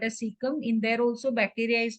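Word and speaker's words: caecum: so it is called as how you PR pronounce it c c c a e seeum yeah seeum so animals like horses rabbits they also have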